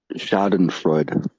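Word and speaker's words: Schadenfreude: Shaen Freuda which in German they have to have a word for it pronounced Shaden Freud. Shoden Freud.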